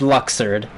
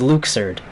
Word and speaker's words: Luxord: 10 in the organization who I've always called luxord they pronounced his name for the very first time in this game Oh No and his name is Luke surd oh god no and